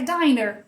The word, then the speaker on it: diner: E aí, então você usa um N só, fica a vogal longa, I.